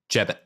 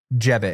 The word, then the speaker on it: Jebbit: So how do I say the name of the company? Jebbit. Jebbit.